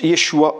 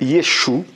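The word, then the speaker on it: ישוע: l ai déjà dit le nom de jésus se prononcent échoit en hébreu et il est prononcé y échouent par certaines mouvances juifs certains je précise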